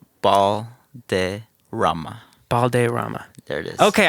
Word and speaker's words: Balderramma: Balderramma. Balderramma. There it is. Okay, I had it right. I didn't want to butcher it. You can roll your R's too if you want.